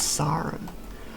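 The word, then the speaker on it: Sarim: go we go to Port Sim or sarum undecided onwards the correct pronunciation it's one of them or sarum it's sarum okay so here's the version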